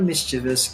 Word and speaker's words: mischievous: Tiger is a more mischievous cat than my other cat, Rena. So how many syllables the adjective mischievous has? Very good, 3.